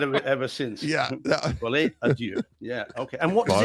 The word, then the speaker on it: Folie à deux: And guys, just regarding Tuesday's show, the pronunciation is Joker Folie à deux. Not Folie follow a à duck. deux. It's Yeah. not follow a duck.